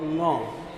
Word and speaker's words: ङ: इसका शुद्ध उच्चारण है क ख ग घ ङ, क ख ग घ ङ। दूसरा है च छ ज झ ञ, कोई खाली वाली नहीं होता। ये बेवकूफ़ है जो लोग